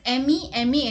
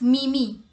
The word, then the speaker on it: meme: because this word has m-e-m-e in it so people think that m e is mean right so most of the people pronounce this as mimi but it's not me me it's meme okay now what is meme